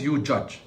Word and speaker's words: UJudge: Now, this website is called UJudge, UJUJ, pronounced as UJudge, is a patent pending